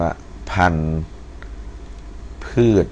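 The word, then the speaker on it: พันธุ์พืช: พืช นะ ครับ อ่า อัน นี้ อ่าน ว่า พันธ พืช นะ ฮะ สระ อือ พันธุ์ พืช นะ ครับ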